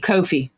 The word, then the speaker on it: Kofi: Oh, it's pronounced Kofi. Oh, coffee. Kofi like coffee. It supposed to be like coffee.